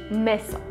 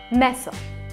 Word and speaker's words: mäso: This is only with the letter a, and it means that it needs to be pronounced like a-e. For example, a-e in the word meso, meat.